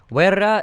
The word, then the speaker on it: Wera: Wera is like, think of like a brick stacking construction worker who's like a bear, you know? It rhymes with bear.